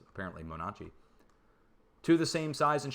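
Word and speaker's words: Monache Mountain: Same with Templeton Mountain and Monachi Mountain, which I've been pronouncing Monash Mountain, but it's apparently Monachi.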